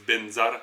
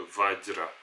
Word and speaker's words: vajra: C'est pour ça qu'ils disent benzar d'ailleurs plutôt que vajra.